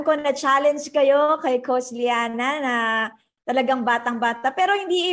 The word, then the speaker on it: Llana: Tama ba yung pagpapronounce ko, Liana? Liana.